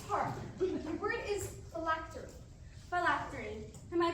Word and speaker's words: phylactery: Phylactery. Am I pronouncing that correctly?